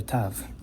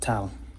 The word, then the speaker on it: tav: as with the letter tav. In modern Hebrew, it's tav, and in the chosen pronunciation of Hebrew and in Sephardic Hebrew, it's called tau.